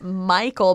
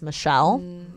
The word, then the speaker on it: Michel: But fun fact, his name's Michael, but it's spelled M-I-C-H-E-L, so people mispronounce it as Michelle, but it's just a family name.